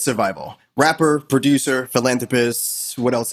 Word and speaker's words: Sur5ILL: It's your boy, Survival, not Sursil, and not any other way that you would pronounce it. It's Survival.